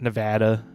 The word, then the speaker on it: Nevada: Apparently, that's how you say it, Nevada.